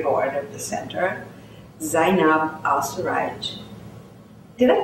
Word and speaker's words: Al-Suwaij: And I'm delighted to have a friend and member of the advisory board of the center, Zainab Al-Suwaij. Did I pronounce that correctly? Al-Suwaij.